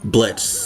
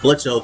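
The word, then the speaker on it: Blitzø: is Brandon Rogers voicing Blitz, the main Blitzo, just because I think Brandon Rogers is fucking hilarious. Whoa, hold up, buddy! It's not Blitzo. The O is silent, stupid.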